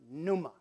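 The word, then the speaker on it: πνεῦμα: is the Greek word Numa and yes I know it should be pronounced panuma but the p is silent okay so Numa well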